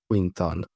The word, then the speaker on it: quintal: one word, I think, which is quintal. Yes, if you don't know what a quintal is, it's just 100, like on this pronounced like queen. Quintal, queen.